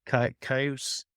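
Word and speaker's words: Kyuss: Age and he has another band K cause I think is how it's pronounced this is a pronunciation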